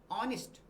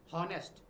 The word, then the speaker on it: honest: देखिए फिर वही बात करते हैं अपन, ऑनेस्ट नॉट हॉनेस्ट। ये एच जो है यहाँ पे ये साइलेंट है और इसका जो प्रॉपर जो इसका प्रोनाउंसिएशन जो होगा ना वो होगा ऑनेस्ट।